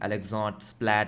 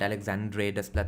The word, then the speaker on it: Alexandre Desplat: Different people pronounce his name differently. Alexot Splat Alexandre Desplat etc. I pronounce it as Alexander Desplat.